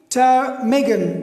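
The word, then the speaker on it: ptarmigan: टर्मेगन, टर्मेगन. Okay, सो इसमें टी से पहले पी आए हैं तो ये पी साइलेंट है.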